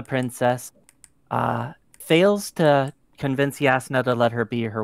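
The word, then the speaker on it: Jasnah: oh i pronounce her jasmine all the time so yeah so i feel better about it if the author can't get it right yeah it's supposedly pronounced yasna but spelled jasma i feel like he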